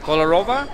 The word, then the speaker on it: Kolorowa: It's Kolorowa. Kolorowa?